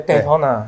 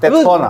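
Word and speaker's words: Daytona: 没有，美式发音，美式对，戴通拿，戴通拿。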